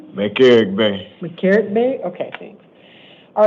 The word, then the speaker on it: McElrathbey: McCarrick Bay.